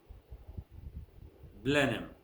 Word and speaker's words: Blenheim: hot sound is silent H is silent in the following ways it's not pronounced our honest owner